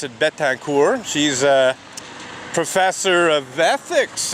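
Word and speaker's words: Betancourt: about it Beth hacker it's the French name essentially from what I can tell and I would pronounce it bet tank or she's a professor of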